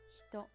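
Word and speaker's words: 人: You can read it as hito.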